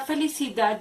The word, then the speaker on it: felicidad: La palabra felicidad lleva la acentuación tónica en la última sílaba, que es da.